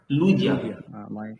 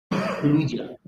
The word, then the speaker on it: Lydia: لوديا. هو نطق الإبسلون زي ما هو متعود ما ينطقه في الألماني، اللي هو بينطقه زي الأو بالظبط، أو يعني شبيه كده بالأو أملاوت يعني. لوديا. Guten Tag, mein Name ist Lydia.